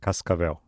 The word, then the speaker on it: Cascavel: Cascavel.